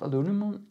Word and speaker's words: aluminium: is made out of aluminum aluminum sorry and the aluminium i think would be the correct pronunciation and it feels really